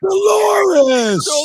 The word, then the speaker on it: Dolores: Oh, Dolores! Rhymes with a female body part.